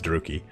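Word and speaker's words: Druchii: Because from this point, it depends on how you want to pronounce this, Druki or Druchi. I like Druchi, but I know it's Druki.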